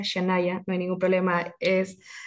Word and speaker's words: Shannyah: Para mí un placer estar acá y bueno, el nombre se pronuncia Shanaya, no hay ningún problema,